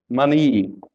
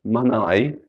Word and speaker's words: money: Rule number 2, Y has a long E. So when Y or EY ends a word in an unstressed syllable, the Y has a long sound of E. Key, key. Money, money. Funny, funny. So see, has the E sound, not a Y sound. It's not kai, manai, funai.